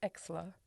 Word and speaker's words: Exler: It's Exler. Exler. Yeah. Exler. Is that Yes. like excellent? Yeah, Excellent. of course. Yeah. That actually is pretty good then. I get elixir.